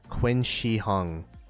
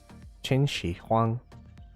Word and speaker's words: Qin Shi Huang: it's worth to max ZL right now for Qin Shi Hung, the new commander coming out. Jin Shi Huang. I learned how to pronounce it. Qin Yeah, Shi Huang? definitely. Qin, Yeah, Jin Shi Huang. Qin Shi Huang.